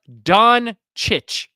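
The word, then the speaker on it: Dončić: It's Luka Doncic. How's it Don? It's not set yes, the way it's spelled.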